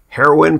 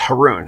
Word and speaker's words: Haroon: pay just they'd say heroine party of six heroine party of six yeah and the way to pronounce my name last name is Haroon it rhymes with baboon now you'll never forget